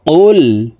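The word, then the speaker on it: قُلْ: পড়ে থাকি প্রিয় দর্শক কফ হরফের উচ্চারণ জিহ্বার গোড়া তার বরাবর উপরের তালুর সঙ্গে লাগাইয়া উচ্চারণ করে পড়তে হবে তো এ কফ জজমওয়ালা লাম কে ধরবে কফ লাম পেশ কুল কুল আমার সঙ্গে বলার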